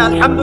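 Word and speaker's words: الحمد: বিশ্বজাহানের প্রতিপালক মালিক আছেন এখানে আলহামদু কেমন করে উচ্চারণ করেছেন গলার কথা থেকে মাঝখান থেকে না আচ্ছা আলহামদু অর্থ সমস্ত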